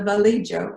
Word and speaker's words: Vallejo: This is the Vallejo, as the family pronounces their name, sisters out in the backyard of their Des Moines home in 1945.